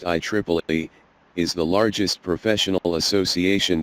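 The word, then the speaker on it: IEEE: Triple E I Triple A T which is pronounced I Triple E is the largest professional association that provides technical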